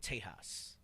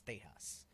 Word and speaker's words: Tejas: Edomites and into the west, they called it Tejas, right? That's how they pronounced it. It wasn't Texas, it was Tejas.